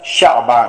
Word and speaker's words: شعبان: صحیح تلفظ زده کی دا لفظ شعبان دی بفتح الشین، د شین په فتحه باندې دا تورې ویل کیږي.